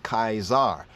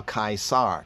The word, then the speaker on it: Caesar: about this right here Caesar is mispronounced when we pronounce Caesar correctly we have kaizar or kaisar kaisar kaizar like Kazar is there connection between